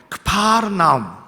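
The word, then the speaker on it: כפר נחום: 사셨다라고 말씀해 주고 있어요 가버나움이라고 하는 말을 여러분 이스라엘에 살고 있는 사람들 히브리 사람들이 하는 이야기는 많은 발음은 이렇게 이야기합니다 가버나움을 이렇게 얘기해요 그 바로 나옴 그 바로 나옴 이렇게 이야기를 합니다 그 바르라고 하는 것은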